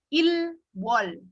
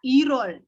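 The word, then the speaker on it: 일월: Jadi kayak Januari berarti itu adalah ilwol. Bacanya adalah irol.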